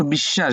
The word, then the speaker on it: বিশ্বাস: দুইবার করে দেও অস অস তালবস দুইবার করে উচ্চারণ তালবস এবার আস বিশ্বাস বিশ্বাসের বফলা আছে মাঝখানে হ্যা এটা দেখ দুইবার